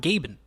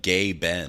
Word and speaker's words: Gaben: Even listed on the track, it's spelt as one word, Gaben. They're not even saying Gabe N. They're saying Gay Ben.